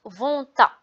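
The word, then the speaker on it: vont-ils: On prononce vonta.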